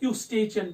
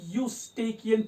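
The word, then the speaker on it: Eustachian: यूस्टेकियन tube इसका actually pronunciation है, कुछ उसको पढ़ते हैं यूस्टेचियन भी, लेकिन एक्चुअली इसकी प्रोनाउंसिएशन यूस्टेकियन ट्यूब।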